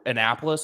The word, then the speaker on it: Annapolis: Where Annapolis, is that how it's pronounced?